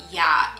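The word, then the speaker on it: Oia: actually learned while i was there that it's pronounced just ya in greek this is literally the most famous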